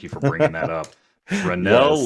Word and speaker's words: Fresnel: for bringing that up rennel lenses fresnel is how it's spelled just mention though because